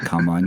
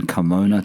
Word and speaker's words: Carmona: I've got to make sure I say it right, not Carmine. Carmona, Tony. Carmona Red, very rare, very special car.